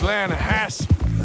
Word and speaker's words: Lanahatchee: Yeah, but it's pronounced Lanahatchee.